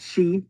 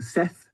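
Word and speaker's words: sìth: That's pronounced she, not Sith.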